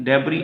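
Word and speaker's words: debris: इफ, अगर, dirt, गर्द, मट्टी को कहते हैं जी डर्ट, गर्द, और डेब्री, डेब्री एस साइलेंट है, डेब्री बोलना है, एस नहीं है प्रोनाउंस करते वक्त।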